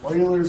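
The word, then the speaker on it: Euler: okay what is e e is called Oiler number e u l e r pronounce Oiler o i l oil's number okay here's some notation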